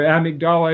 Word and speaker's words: amygdala: abused and neglected children the amygdala or amigdala as it's pronounced is larger and the